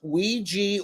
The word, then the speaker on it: Ouija: the wrong way to go about using the Ouija board that is because you attract you attract